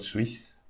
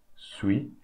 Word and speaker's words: suis: So this S we are not going to pronounce, and the E here we are not going to pronounce. So we say suis, not Swiss, suis.